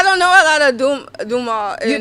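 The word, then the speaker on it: Dumas: It's spelled D U M A S but we getting Duma. Duma. Like Alexander Duma. The Duma. You like I'm adding a Y to Duma.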